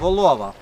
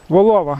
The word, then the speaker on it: Волова: Правильно наголос Волова. Волова. Та правильний наголос волова. Ось там був такий плюс-мінус різкий підйом з полонини Германів.